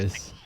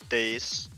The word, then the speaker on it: Deus: It's Demon I don't Deus. Days. Okay. it is it is days. Days works too.